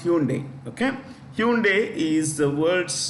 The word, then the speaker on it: Hyundai: Hyundai, it's pronounced Hyundai.